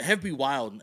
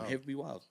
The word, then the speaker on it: Hev B Wyld: But Wyld is spelled W-Y-L-D. So it's got that hip hop flavor.